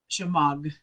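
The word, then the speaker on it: shemagh: by four foot and it's called a shema chamog is how it's pronounced and or you can call it i'm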